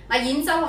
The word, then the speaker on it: 兖州: 同演员的演发音相近，但是发第五声。演州是古九州